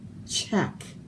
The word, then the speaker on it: Czech: So czar sounds like it would start with the Z, doesn't it? And then here's our word Czech. That doesn't look like Czech, but that's how you say it.